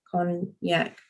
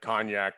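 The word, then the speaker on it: konjac: in there as well con yak yes it's not like the cognac that you go ship on and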